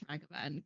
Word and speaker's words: Ragavan: Yeah, it's pronounced with, well, the first A is like a double A sound. Okay. Or like the Egyptian sun god. Ra.